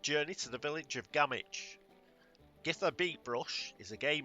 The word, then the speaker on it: Gamwich: I may have mentioned this before, but I'm British, so we don't say Gamwich. The W becomes silent, and we ignore it, and it's Gamich.